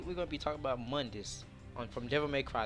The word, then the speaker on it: Mundus: Now, Mundus, Mundus is really how you pronounce it.